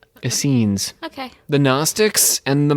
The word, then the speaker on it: Essenes: what do you think how's it spelled essenes like a no e scenes essenes okay the gnostics and